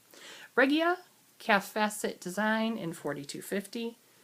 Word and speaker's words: Regia: And the yarn is Regia. I always hear Molly from Homespun House say it like that. And she's in Germany, so I trust her. Regia Calf Facet Design in 4250.